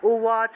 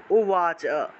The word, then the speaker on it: উবাচ: ধর্মক্ষেত্রে কুরুক্ষেত্রে উৎসব দেখুন এই উবাচ শব্দটাকে আমরা উবাচ হিসেবে উচ্চারণ করব উবাচ কারণ এই যে বটা আছে যে জায়গাতে আপনারা ব পাবেন সেই জায়গাতেই রূপে উচ্চারণ করতে হবে ঠিক আছে মনে রাখবেন